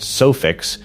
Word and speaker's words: Sufix: Sufix, pronounced Sufix, is owned by Rapala VMC, pronounced Rapala.